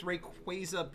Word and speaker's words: Rayquaza: Just like with Rayquaza being Rayquaza, I call him Rayquaza.